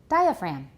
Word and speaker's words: diaphragm: class what is it diaphragm right we don't pronounce the G you can see this